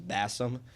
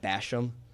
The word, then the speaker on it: Bassam: My last name is Bassam, but people like to pronounce it Basham because of where we live.